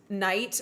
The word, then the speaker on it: knight: In the Middle Ages, knight was uh actually pronounced like it's spelled kite.